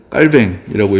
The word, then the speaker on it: 칼빈: 칼빈의 이야기를 조금 더 이제 들려드리려고 하는데 요즘 칼빈이라고 하면은 사람들이 좀 안 좋아해요. 이게 왜냐하면 칼빈이 프랑스 사람인데 프랑스어로 이 사람 읽으면 깔뱅이라고 읽어야 돼서 요즘 좀 유식한 사람들은